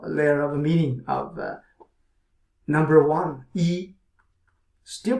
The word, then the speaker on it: 一: of layer of a meaning of number one e still pronounced as e our surface meaning is e number one and